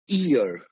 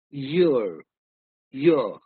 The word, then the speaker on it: year: But there are many regions where they'll focus more on the Y sound. Year, year.